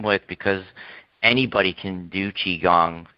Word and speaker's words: Qigong: the people there who don't know how to pronounce Qigong they're pronouncing it qui gong and that's how you